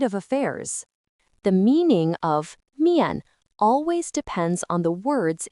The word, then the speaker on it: 面: It is pronounced miàn.